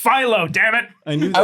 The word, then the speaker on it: phyllo: baklava and it's pronounced phyllo.